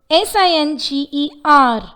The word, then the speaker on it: singer: Singer, S-I-N-G-E-R, singer, but not singer or singer.